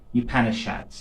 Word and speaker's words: Upanishads: So, some of the early references to meditation, as well as Samkhya, are found in the Upanishads, it's called. This is how you pronounce it.